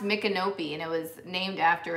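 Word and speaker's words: Micanopy: um wings clothes like open and closed it's pronounced mikanopi and it was named after a chief a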